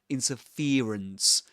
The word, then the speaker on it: interference: So um in this accent this ear dip thong is usually replaced by e by an e sound. So he says interference interference and there are many